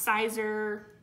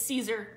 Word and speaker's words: Caesar: it's pronounced but Caesar it's been pronounced sizer but yeah its Caesar like Caesar Augustus I always think of